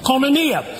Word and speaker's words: koinonia: The word communion in the Greek is koinonia, spelled with a K. Koinonia.